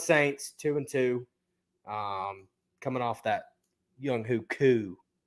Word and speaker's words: Younghoe Koo: The New Orleans Saints 2-2 Coming off that Young Hoo Koo. It's Younghoe Koo, and he's you know where he went to school.